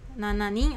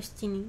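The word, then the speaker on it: 七人: Nana ya minasang, nana ning atau shichining, tapi pilih salah satu saja ya minasang.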